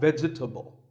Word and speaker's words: vegetable: a lot is vegetable it's not vegetable if you say it correctly there are only three syllables veg vegetable let's talk about a